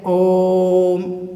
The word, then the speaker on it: ॐ: है यह हिंदी का तीन लिखा हुआ है इसका मतलब यह है कि वह का उच्चारण हमें तीन वार करना है वह का उच्चारण हमें तीन बार करना है इसलिए हम ॐ का जप उच्चारण करते हैं तो हम इसे पढ़ते हैं ओम इस तरीके से तो यह सब